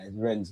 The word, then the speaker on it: Rennes: The S in Rennes is silent, by the way, DG. It's Rennes, man. Rennes.